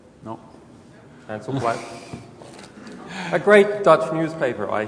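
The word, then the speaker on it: Handelsblad: Right here, earlier this year, in the Netherlands, this is the front page of NRC Hansel-Blad. Is my pronunciation correct? No. Hansel-Blad.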